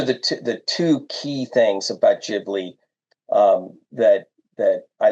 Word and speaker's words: Ghibli: En español está Ghibli, pero en inglés is Ghibli, and in Japanese it's Ghibli.